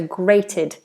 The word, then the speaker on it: grate: things of course and the pronunciation is exactly the same as the word hey great so slightly different spelling